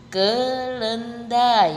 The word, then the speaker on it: kelendi: itu ada contoh Hai kelendi kelendi diakhiri huruf vokal Q maka dalam pengucapannya menjadi ke lendha i Hai ada juga contoh